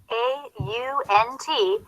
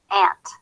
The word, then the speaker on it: aunt: allowed alter an note a u n t can also be pronounced aunt but it is most commonly pronounced ant Arc Ascent assistance eight